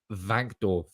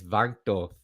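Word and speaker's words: van de Beek: legs um oh the the W is pronounced V vanor okay it's vanor sorry that's not very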